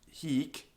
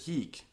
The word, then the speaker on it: hic: books like plautus but even without the e on the end it's still pronounced the consonant is long how do you have a long consonant you go like this it's like hey so you get to the C and then you release it giving you another C